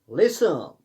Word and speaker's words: listen: LISTEN, LIST, इसमें T silent रहता है. LISEN, लिसन.